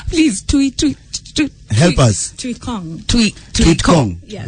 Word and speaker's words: Tuikong: Tuikong. Tuikong. Yeah. Like Not King tweet. Kong and then tweet.